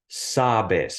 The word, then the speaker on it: sabes: last syllable in Spanish by default the emphasis in the pronunciation is always on the second to last syllable of any word even if it's a two-syllable word like sabes for example and so